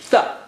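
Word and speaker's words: ث: How do you say Tha? Well, as I told you, look at the picture. You put your tongue tip or touch the tip of the tongue to the edge of the upper teeth.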